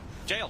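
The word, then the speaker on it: gaol: That's how you pronounce Gaul. Jail. Jail. Wow. Yeah, I thought it was Yeah, you thought made more sense. It's an old English spelling.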